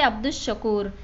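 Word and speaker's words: عبد الشكور: जैसे अब्दुश्शकूर, इसमें अलिफ लाम लिखा गया लेकिन पढ़ा नहीं गया।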